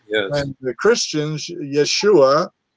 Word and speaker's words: Yeshua: And the Christians, Yeshua, Yeshua HaMashiach, that's the proper way to say it.